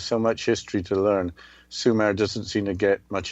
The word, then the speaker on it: Sumer: Thank you, Justina, for letting me choose the subject of the ancient civilization of Sumer, which is spelled S-U-M-E-R, which is summer with only one M.